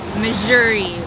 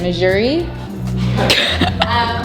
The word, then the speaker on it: Mejuri: Okay, so first up we have Mejuri or Mejuri. How do you say it? Mejuri? I say Mejuri. Mejuri. I do think it's Mejuri.